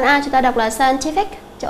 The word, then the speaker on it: scientific: Ở đây chúng ta sẽ chọn đáp án, đó là đáp án A, là bởi vì scientific cho âm sẽ rơi vào âm thứ 3.